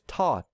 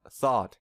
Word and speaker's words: thought: easier to say so a non-native speaker might pronounce this word as taught instead of thought we also tend to